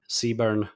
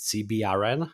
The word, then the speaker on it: CBRN: Actually I pronounced it CBRN. Is that incorrect? No, that I think that's right. Uh in the US in the military they call it Seaburn. So either one's right I think.